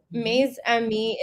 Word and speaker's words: Mes Amis: So, Maze Ami is French for my friends.